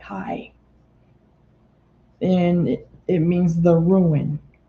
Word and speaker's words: Ai: in locating AI Hebrew the Hebrew is is pronounced hi the h a a y High and it means the